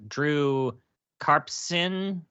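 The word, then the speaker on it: Drew Karpyshyn: like who was spearheading um Anthem was uh Drew kpon yep yep that's how you pronounce it yeah he gone before that huh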